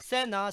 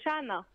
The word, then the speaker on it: Shana: C'est Shana. Sana, pardon. Shana. Ah, Shana. Shana, S-H-A-N-A. C'est ce que j'ai prononcé. Sana. Sana. Sana. J'avais rien dans la... j'avais rien dans la bouche, Sana. C'est pas Sana. Ça, je fais c'est pas Sana, c'est chat avec un H. Shana, voilà.